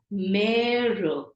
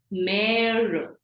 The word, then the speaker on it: mère: Supposing the word for mother, we know E with an accent is an A sound, but here we are going to really stress on the A sound. It is pronounced as mère, mother.